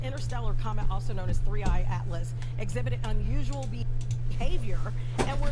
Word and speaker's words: 3I/ATLAS: But let's talk about the new things with 3I Atlas. That's the correct way to pronounce it, correct?